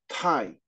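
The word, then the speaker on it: 泰: And that Chinese character is pronounced Tai at the fourth tone, and it means supreme peace, even if here it's simply translated as peace.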